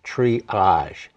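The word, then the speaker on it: Tree-age: There is a material called triage, T-R-E-E-A-G-E. So it's pronounced triage.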